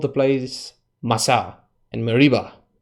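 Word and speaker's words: Massah: he called the place masa and Mareeba I'm pretty sure you didn't say it like it's Spanish masa masa means tasting Mareeba means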